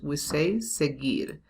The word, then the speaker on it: seguir: This U here, it's not pronounced. We say seguir.